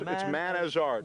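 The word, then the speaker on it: Manazrt: And one of them's holding the album, Too Much Pressure, it's Man as Art. Man as Art. But it's spelled sort of as one word.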